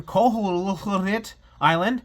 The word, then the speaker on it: Koholint Island: The game starts with Link stuck on Koholint Island, that's how you say it, and he has to awaken the wind fish to escape.